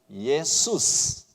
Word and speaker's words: 예수스: 이것이 이제 헬라어로 넘어오면서는 예수스. 그래서 실제로이 발음으로 불렀을 거예요.